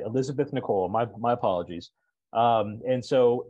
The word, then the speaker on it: Nikol: super participant Elizabeth Nichols nickel am I pronouncing it right Elizabeth Nicole just like the first name all right Elizabeth Nicole my apologies um and